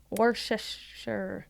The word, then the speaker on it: Worcestershire: I know the right way to say it is to say it not looking at the letters. Because if you look at it, it says Worcester. Yeah, you just got to feel it.